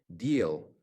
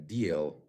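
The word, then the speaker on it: Diehl: For example, the manufacturer of Iris T deal that's how it's pronounced in German deal publicly talks about expanding capacity and increasing production.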